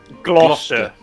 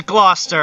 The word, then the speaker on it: Gloucester: real American English yeah Gloucester that's how you say it wait hold up Gloucester Gloucester it is Gloucester I just played the